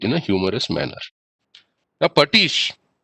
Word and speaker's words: pastiche: Now, Patish, it is pronounced as Patish and written as Pastiche.